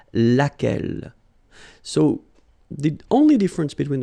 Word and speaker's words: laquelle: blow l oh well phonetically here it is the same as what we have here so lack l so the only difference